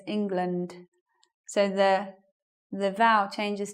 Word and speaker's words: England: become a schwa so what some people do is they'll say the words a good example is this word they'll say England but actually it sounds like this England so the the vow